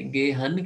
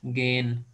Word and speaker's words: gehen: अच्छा, H silent है, एच जब भी वावल के बाद है तो साइलेंट है। तो हम बजाय गेहन कहने के हम उसको लॉन्ग कर देंगे, गेन। जैसे जेन। जैसे जेन है, इसी तरह बिल्कुल।